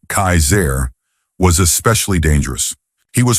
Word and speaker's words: Kassar: One man in particular, who called himself Kassar, pronounced Kaiser, was especially dangerous.